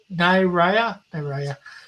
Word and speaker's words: Naira: And Lorenzo saying Naria is pronounced Naria. Naira.